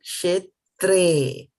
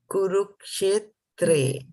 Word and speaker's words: क्षेत्रे: So one thing, just keep that in mind that when there is a E here, it is pronounced as a, as in the word they, right? So Dharma Kshetre, Kurukshetre, right?